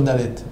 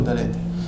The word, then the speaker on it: Dalet: longtemps sur le Dalet mais c'est une lettre qui est difficile à prononcer comment on peut rester longtemps sur un dal parce que si si on rentre dans la vousz voir dit faut pas dire de parce que si on dit de on on appuie sur le de donc on sort du Dalet il faut juste prononcer le D dans le vous voyez ce